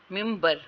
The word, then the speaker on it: member: for example stress comes on the first syllable of the word parent and member as parent and मिम्बर respectively, ठीक है।